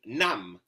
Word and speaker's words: Nam: So as to the pronunciation nam, the a has the sound of the a in a father.